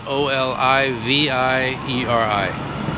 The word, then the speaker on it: Olivieri: Teofilo is Teofilo, and Olivieri is Olivieri.